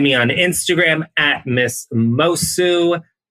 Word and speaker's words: Moço: You can find me on Instagram at Miss Moço, MISSMOCO. The C is silent. It's Portuguese.